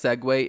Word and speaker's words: segue: So, okay, let's segue into Segue is spelled s e ge ue.